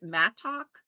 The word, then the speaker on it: mattock: I call it mattock, assuming you split the two syllables after each T, between the T's.